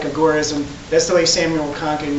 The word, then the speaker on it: agorism: And just a little clarification, you'll hear the word you'll hear it pronounced agurism a lot. And I'm just I'm a purist. I like agorism.